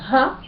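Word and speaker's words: הַ: Quand le He se trouve au début d'un mot, il signifie ha, il se prononce, pardon, ha.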